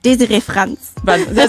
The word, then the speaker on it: Desiree Franz: Desiree Franz. Tell me, is it pronounced like that? Desiree Franz. Sounds very German.